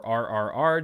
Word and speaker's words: RRR: That drops out Sniper and Triple R, or RRR, depending on how you pronounce it.